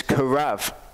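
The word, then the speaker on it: קרב: And a beit can be pronounced with a B or a V sound. Here it's a V sound, and it's karav.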